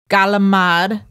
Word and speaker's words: calamari: okay then there is squid or calamari or if you are from New York City galamad that's right right galamad that's right